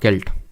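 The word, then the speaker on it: celt: में नवपाषाण काल में व्हाट इज अ सेल्ट और केल्ट तो एक्चुअल में सेल्ट इसको प्रोनाउंस करेंगे तो ये एक तरह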